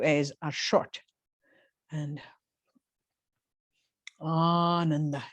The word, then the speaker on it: Ananda: The first A is long, ah, and the other 2 A's are short. And Ananda it's like an extension of bliss.